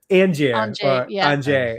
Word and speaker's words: Angier: you mention you mentioned casino um Angier as it's properly pronounced.